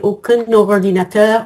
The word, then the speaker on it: aucun ordinateur: Donc la liaison, elle est obligatoire mais on dit pas aucune. On garde la nasale avec la liaison.